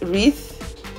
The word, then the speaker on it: wreath: an example of a word that has silent W alright so I'm going to write wreath so here are some